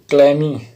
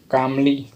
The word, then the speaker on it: calmly: Next word हमारा है कामली। ये L साइलेंट है, इसलिए यहाँ पर फर्स्ट L जो है साइलेंट रखा गया और नेक्स्ट वर्ड को बोला गया है कामली।